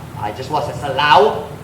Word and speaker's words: Laos: Sa Laos. It's spelled Laos, but it's pronounced Lao. Is it Lao? Right? It's Laos. I think it's Lao. Walay S sa sound.